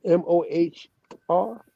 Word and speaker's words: Mohr: pull up the more m-o-h-r etymology the german pronunciation of more correct yeah pull it up that's it mohr this description i've come